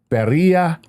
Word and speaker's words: Pereira: It's an E-I-R-A? That sounds Portuguese. E-I-R-A. Yeah. Pereira, Portuguese, Colombia. they put the E in front of the I. Yeah, okay.